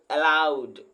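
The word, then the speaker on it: aloud: देखिए यहाँ पर एक चीज देखिएगा, इसका मतलब दोस्तों अलाउड, ए पर लोग बहुत स्ट्रेस देता है, जबकि ऐसा नहीं बोला जाता है। ठीक है दोस्तों, ए पर बहुत स्ट्रेस नहीं दिया जाता।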